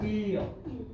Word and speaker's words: 인력: 뭐예요 자동화 자동화 자 인력이라고 하는데 실제 읽을 때는 뭐라고 읽어 일력 역이라고 읽지 인력 인력